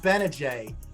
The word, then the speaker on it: Gbinije: syracuse basketball player michael benajay uh silent g how are you mike